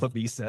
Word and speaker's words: La Mesa: La Mesa. La Mesa, but they call it La Misa.